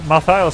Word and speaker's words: Malthael: Malthael sounds super bad, like mal in French means bad. It's pronounced Malael, like what, Malo?